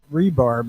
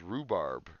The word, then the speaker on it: rhubarb: half of the day rebarb is that that leafy fruit you just pronounce it wrong no that's rhubarb a rebarb is the